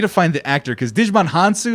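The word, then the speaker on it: Djimon Hounsou: find the actor because digimon hansu is how you pronounce it he's in the game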